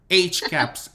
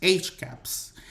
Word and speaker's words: HCAHPS: estoy pronunciando correctamente, a lo mejor coloquialmente se pronuncia de otra manera, HCH, HCAP. HCAPS, exacto.